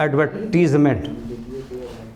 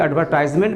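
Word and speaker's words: advertisement: ऑन the basis of एडवर्टीजमेंट, समझे ना, ऑन the basis of एडवर्टीजमेंट। देखिए एडवर्टाइजमेंट भी, ये भी प्रोनाउंसिएशन सही है, और एडवर्टीजमेंट ये भी सही है ना।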